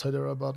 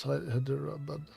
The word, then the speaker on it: Hyderabad: The city is pronounced hyderabad. Not hider.